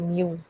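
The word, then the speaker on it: μ: Kemudian ada massa talinya itu sendiri, berarti seper akar mu. Mu ya bacanya.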